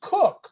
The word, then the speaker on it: Kuck: u c k now my last name is spelled kuck right but it's pronounced cook like chef it's the whole immigrant